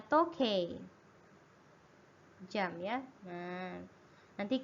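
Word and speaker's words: 時計: itu digabung ya Hai ini special ya bacanya tokai Hai jam ya Nah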